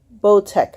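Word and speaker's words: Boteach: name of parenting with fire by Rabbi Shmuel bo tech I believe this how you pronounce his last name bo T EA CH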